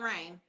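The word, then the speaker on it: Rayn: Okay, well, it's Nurse Rain. Nurse, like nurse is spelled N-U-R-E. And, like. Like is spelled C-A-L-I. Rain, but not like rain is spelled R-A-Y-N.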